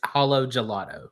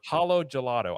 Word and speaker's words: Halo Gelato: You tell me how you say it. It Yeah, it's hollowo gelato. Holo gelato.